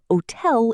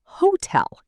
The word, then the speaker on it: hotel: Hotel is not hotel. It is hotel.